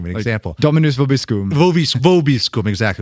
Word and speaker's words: vobiscum: Vobiscum, exactly. Where you say the V in classical Latin, it'd be more like vobiscum.